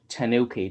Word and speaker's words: TANOKI: so hello i'm here with paul mahan of tanuki did i pronounce that right yeah it's an oaky okay